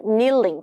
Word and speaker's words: kneeling: 무릎을 꿇고 있는 거는 kneeling, K 발음하지 않기 때문에 kneel 이렇게 발음 안 합니다.